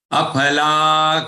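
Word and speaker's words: अफल: This letter has to be pronounced correctly. Don't pronounce it as fa. It is pha.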